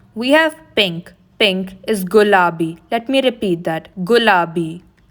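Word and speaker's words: ಗುಲಾಬಿ: Pink is gulabi. Let me repeat that. Gulabi. Blue is pronounced neeli in Kannada.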